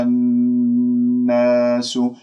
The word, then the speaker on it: الناس: بين الفكين، كما آمنا الناس، الناس، لا تقول الناس، لا تنبر النون المشددة، أنت جبت الغنة مع النون المشددة أكمل ما تكون كما سمعت وخلص ما في داعي للنبر.